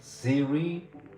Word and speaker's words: Cere: Do Do we pronounce it Ziri? And will you stay the whole session? Okay. Siri, but you know serious like model model for of an actress real actress.